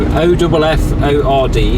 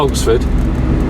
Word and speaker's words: Offord: So O-F-F-O-R-D, Offord, not Oxford, Offord Cluny.